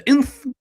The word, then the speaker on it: Nth: The Inth. That's how you pronounce it, the metal? The Inth? Yeah, Inth metal, yeah.